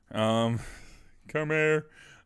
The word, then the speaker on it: Chimera: Chimera, pronounce the interior R. Chimera.